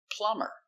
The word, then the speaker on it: plumber: Example, plumber. We put e r, but the b is silent.